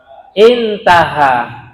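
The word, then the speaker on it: انتهى: Intaha. Intaha. Intaha. Bukan a atau bukan aun. Ahin. Hamzah dan ha. Cara bacanya intaha sudah selesai atau sudah rampung opo pengajian ini?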